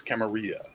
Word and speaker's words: Camarilla: There's Camarilla. 2 L's. It's Camarilla, Yeah.